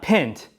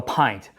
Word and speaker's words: pint: tint hint lint pint yeah that's right not pinned but pint why is a pint